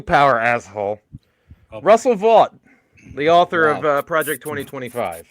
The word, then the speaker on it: Vought: Vought. The really sad thing about his name is it's pronounced vote, which he wants to eliminate.